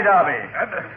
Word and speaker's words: Derby: There isn't any Derby. That is, some people use the English pronunciation for Derby.